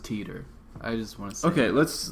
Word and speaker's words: Titor: titter and I'm future I'm gonna say it's probably pronounced Teeter I just want okay let's let's do I'm gonna say Tanner doesn't sound like a name okay fine John Titor uh-huh you know John